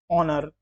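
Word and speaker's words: honour: इसी प्रकार से बहुत सारे ऐसे शब्द हैं, नाइफ, ऑनर, आवर, ऑनेस्ट। तो इन सारे शब्दों में जो पहला अक्षर है, जो पहला अल्फाबेट है, वह साइलेंट है।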